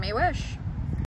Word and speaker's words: Mehwish: My name can be pronounced by putting the month of May and the word wish together and you get Mehwish.